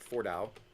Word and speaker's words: Fordow: take out this one nuclear enrichment site at Fordow. That's how that's pronounced.